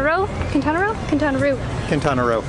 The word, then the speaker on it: Quintana Roo: Quintana Roo. I want to say it like Roo, like kangaroo.